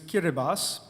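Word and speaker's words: Kiribati: b a TI but the ti at the end is pronounced as an s in their language so their nation is kiribas you have to get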